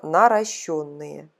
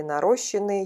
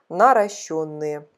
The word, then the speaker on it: наращенные: Правильно говорить слово наращенные. Еще раз повторяю, кто, может быть, не обратил на это внимание, нет такого слова наращенные или нарощенные, есть такое слово наращенные.